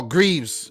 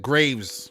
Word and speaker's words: Greaves: Or Greaves, if you want to pronounce it. Greaves. In St. Vincent, we pronounce it Graves. Don't know why. But Jimmy Greaves, I think it's Greaves.